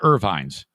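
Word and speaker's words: Ervine's: So if you are in and around West Michigan and you have car trouble, call upon Irvine's. And it's spelled E-R-V-I-N-E-S.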